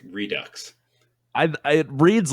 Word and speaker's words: Redux: go with that one clue redux it is pronounced redux okay cool i i found a pronunciation clue hold on hold on read it so that that that's pronouncing it like redix and i don't think that's how it's supposed